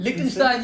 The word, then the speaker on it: Liechtenstein: Liechtenstein, yes!